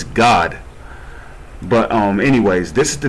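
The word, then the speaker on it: גד: And how do you pronounce Gad in Hebrew? It's God.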